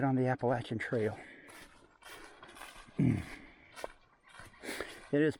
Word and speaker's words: Appalachian: When we get to the top, we will be right on the Appalachian Trail. It is pronounced Appalachian, by the way.